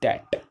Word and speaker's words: debt: Next one इज वन कैन नॉट पे ऑफ हिज डेट, इसको DEBT होता है, इसको डेट बोलते हैं, इसमें जो बी है ये साइलेंट होता है।